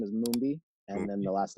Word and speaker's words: Mumbi: properly yeah yeah so the first name is mumbi and then the last name is yeah